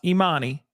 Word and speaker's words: E'Manie: It's it's pronounced Eminie Hughes. Okay, E''Manie. Hughes, just like Hughes.